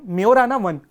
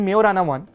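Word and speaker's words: Majorana: बट but when it comes to Microsoft मेराना वन आप इसका spelling देखेंगे जे है बट इसका जो प्रोनंसिएशन है दैट इज़ मेराना वन।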